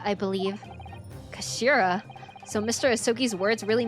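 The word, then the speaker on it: 頭: end of the hilt it's written as head in Japanese but it's pronounced as Kashira I believe Kashira so Mr ahi's words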